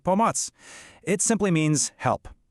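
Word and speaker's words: pomoc: It's bots. You say it like pomatz.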